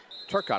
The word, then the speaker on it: Turcotte: No, I pronounced her name wrong. It's Turcotte.